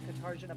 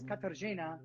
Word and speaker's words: Katarzyna: because we're even saying Katarzyna because that's what most of the time we said, but it's Katarzyna. And so like the R is silent and all this kind of stuff.